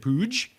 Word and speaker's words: Puig: I believe it's Puig, which is just insane. I thought it was like a joke when someone said that, but apparently that's how you pronounce his last name.